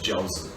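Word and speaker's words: 饺子: E na China os jiaozi, que são dumplings. Jiaozi, esta a pronúncia em mandarim.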